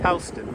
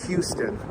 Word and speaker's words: Houston Street: Exactly, Houston. We don't pronounce it Houston.